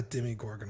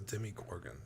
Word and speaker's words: Demogorgon: least it's just the demi gorgon is it demi or demo they say demi gorgon on the show that's how i would